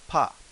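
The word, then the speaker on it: ぱ: i'll come out here if we do the little circle there we call the plosive the hobby the ha becomes pah same thing with a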